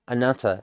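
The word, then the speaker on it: あなた: Anat see, I'm still trying to say an anata anata and it's not anesa.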